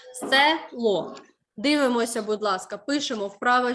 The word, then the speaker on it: село: слова є ненаголошена е можна деякі можливо учні або люди при вимові інколи можна сказати село говорять так відчувають тобто замість е ставлять и як же перевірити е